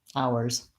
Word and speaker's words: ours: w sound there and then ours ours same thing just add a Z sound ours I do have I